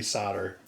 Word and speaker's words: solder: lot of feedback on how i say solder soldering not solder what is it it's a silent l so anyway we wanted